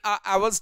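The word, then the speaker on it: hour: इन आवर्स time है. यहां पर जो आवर है इसमें एच साइलेंट होता है और ये हमारी एक वावल साउंड है.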